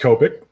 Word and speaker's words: Copic: It's pronounced Copic.